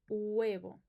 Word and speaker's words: huevo: Then we have huevo. Remember, the H is silent in Spanish. It's like non-existent for us. So it's u-e-bo. Huevo.